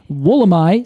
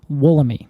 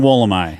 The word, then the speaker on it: Wollemi: term yeah and in Australia they say wool am I and that's where this tree is initially from and initially named so I I figure we should go with that that term but every other people but every other person I've talked to who's not an Australian has said woollomy yeah okay I I say officially from here on out we're going wool am I all right we're gonna